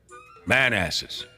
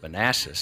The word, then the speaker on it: Manassas: where we're heading next man asses I don't think I that's how you pronounce it well what is it I believe it's Manassas oh Manassas okay you really put an